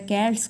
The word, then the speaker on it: Celts: Inhabitants होता है उनको कैल्ट्स बोला जाता है। राइट प्रोनाउंसिएशन होता है, शेल्ट्स नहीं होता है, कैल्ट्स बोला जाता है इसमें। और इसमें एक वर्ड्सवर्थ का है, पैगन स्कल्ड इन नेचर।